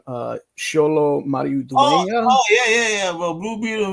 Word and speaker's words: Xolo Maridueña: The homie from Cobra Kai, I believe you pronounce his name Xolo Maridueña.